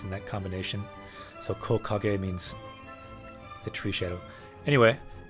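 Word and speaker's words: 木陰: lost so you have made a mistake there Coco gay so some kanji have a more rare reading usually tree is pronounced key but for that one they pronounce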